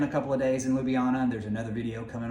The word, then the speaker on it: Ljubljana: Ljubljana. So I was always saying Ljubljana, just so I could remember how to spell it, but I think it's Ljubljana. Yeah.